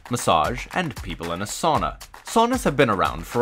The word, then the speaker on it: sauna: Haircut, massage, and people in a sauna. Saunas have been around for a while, the first written record in 1112 in Finland. Finland loves their saunas.